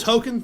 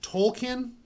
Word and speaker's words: Tolkien: Token thing. Yeah. Yeah, the actual name was Tolkien because they love Lord of the Rings, That's and we've been saying it wrong this whole time.